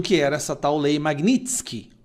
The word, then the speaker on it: Magnitsky: Os ministros do STF, a imprensa, a esquerda, não faziam a menor ideia do que era essa tal lei Magnitsky. Magnitsky, a pronúncia correta, tá?